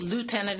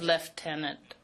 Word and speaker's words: lieutenant: people speaking who use American vocabulary and pronunciation like lieutenant instead of left tenant.